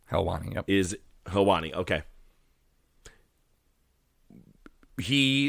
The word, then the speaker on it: Helwani: hence why the moment that, and I'll maybe butcher the name, but Ariel Helwani. Helwani, yep.